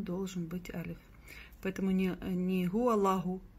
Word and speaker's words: هو الله: Поэтому не говорим гуаляху, а гуаллаху. Плюс обратите внимание, что над лям у нас есть удвоение.